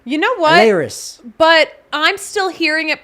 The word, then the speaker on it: Elehuris: Elehuris. But I'm still hearing it pronounced by everyone totally different ways.